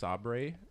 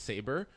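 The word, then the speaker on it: Sabre: like in the office where they think it's pronounced Sabri and then they write a for that it's saber and then it's party and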